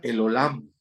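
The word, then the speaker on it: אל עולם: Me acuerdo que en el hebreo se pronuncia el Olam.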